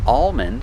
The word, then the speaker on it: almond: it Palm so with words like calm and almond these words have Alm but the L is silent or you don't hear it like I said the tongue